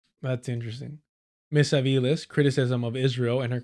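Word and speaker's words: Avilés: I'll tell you how it's pronounced. Let me see here. Oh, yeah, Aviles. For sure, for sure. ¿Dónde es? Where's her family from? Oh, wow. Yeah. It's Aviles.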